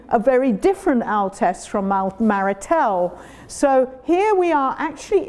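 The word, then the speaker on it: Marestel: de Savoie Cru of Maritel. There is an S in the middle, but they don't pronounce it Maritel, which is above Jonjieu, which is above the Rhône Valley.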